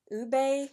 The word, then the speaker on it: Ube: And then the last one is Ube, I believe is how you say that, Vanilla, and this would be the more deepest shade.